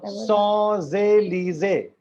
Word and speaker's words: Champs-Élysées: this is called Champs-Élysées. Champs-Élysées. CHAMP. CHAMP is champ in English, but in French champ. And S और E आपस में combine हो गया, Z हो गया, Champs-Élysées, and LYSEE is Lise, Champs-Élysées.